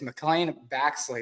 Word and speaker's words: McClain Baxley: on the scene today for Oklahoma State it's McLean Baxley did I pronounce that right yes yes awesome man awesome